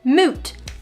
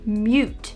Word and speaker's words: moot: moot often mispronounced as mute this word sounds just exactly how it is spelled the two o's make the ooh sound can someone please tell joey trebiani it's not pronounced moo point either it's not akai's